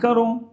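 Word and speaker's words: करूँ: മേ ക്യാ കരേഗ എന്നല്ല, മേ ക്യാ കറൂ എന്നാ ചോദിക്കേണ്ടത്. ഇങ്ങനെ നിങ്ങൾ പറയാറുണ്ടോ? അങ്ങനെ തന്നെ പറഞ്ഞ് ശീലിക്കണം. ഇനി മേ ക്യാ കറൂ, മേ എന്ന് പറയുമ്പോൾ ഊ എന്നതാണ് അതിൻ്റെ അവസാനത്തെ ഉച്ചാരണം ഉണ്ടാവേണ്ടത്.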